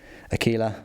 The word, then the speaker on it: Aquila: eagle or Aquila and I'm pronouncing it Aquila because I say tequila and it's got the same you iron al na in it so that's what